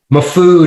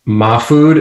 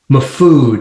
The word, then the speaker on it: Mahfood: Mahfood is the correct pronunciation, by the way. But my family has kind of recognized Mahfood as well, but Mahfood is the proper, rooted in Middle Eastern speak, I guess I would call it.